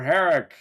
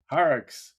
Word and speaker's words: Horrocks: Harick. Harick, did I pronounce it right? Haricks. Yeah, there's an S at the end there, yeah.